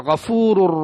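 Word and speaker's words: غفور: சேர்க்கும் என்பதை நம்மால் புரிந்து கொள்ள முடியும் முதலாவது உதாரணம் உச்சரிப்பில் தவறு ஏற்படுதல் இன்னும் கபூர் ரஹீம் அவன் மன்னிப்பவன் நிகரற்ற அன்புடையோன் கபூர் என்று குர்ஆனில்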